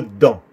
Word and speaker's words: dent: Siempre tienes que decir la dent o une dent. La T no se pronuncia.